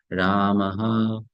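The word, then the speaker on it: रामः: So it is pronounced as Ramaha, Ramaha, Ramaha, Ramai, Harihi, Harehe, Guruhu.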